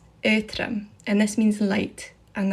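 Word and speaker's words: Aotrom: galek's speaker and this is how you actually pronounce them redox dragon is called earthram ethram and this means light and that's light as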